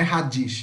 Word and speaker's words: radish: Não é radish, não. Radish. Radish. Tá? CH, o SH aqui é como se fosse um X. Radish.